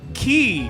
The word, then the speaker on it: quay: Quay that is spelled qu u a y is not actually pronounced quay. It is pronounced key.